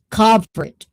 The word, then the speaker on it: covert: Cover. Long O. Covered like that.